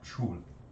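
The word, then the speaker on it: chuul: in suspended animation, referring to it as a chul. Can you spell it for me?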